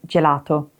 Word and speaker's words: gelato: But if it's followed by the letter I or E, it becomes soft. For example, like at the beginning of gelato.